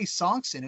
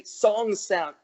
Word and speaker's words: Sonksen: Part of it, my buddy Tony nicknamed me that, but also a lot of people could never say Sonksen. It's not that it's that difficult to pronounce, but some people sometimes you think it's Sonksen, or is it Sonksen?